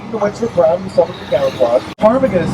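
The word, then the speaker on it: ptarmigan: Tarmagan spelled with a P at the beginning. So if you're reading on a page, you have to be very careful. It almost looks like the word paragon.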